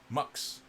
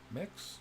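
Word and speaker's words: Mx: express that or gender it's pronounced like you'd expect MUX mugs like MUX mix looks I'll just save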